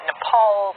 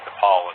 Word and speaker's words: Nepal: point about thinking that Nepal and Bhutan which incidentally he also mispronounced as nipple and button or part of India